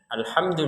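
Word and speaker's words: الحمد: Nah, alhamdu di sini jangan sampai terbacanya alhamdu. Alhamdu. Jadi, alhamdu harus jelas, tidak ada pantulan dari huruf mimnya. Enggak ada sama sekali.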